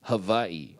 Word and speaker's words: Hawaii: Actually, it's my understanding that it's if it's pronounced wa, it would be havi as the locals call it.